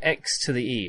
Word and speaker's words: Xᵉ: to point out x e technically that e is superscript right so it's nothing to do with a personal pronoun she this is completely orthogonal to that it's all about exoscale so x to the e as in x the unknown variable to the power of the exponential exponential for everyone extra scale